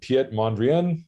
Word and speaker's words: Piet Mondrian: art generator so uh there's this artist called piet mondrian i think that's how you pronounce it i'm not sure exactly we always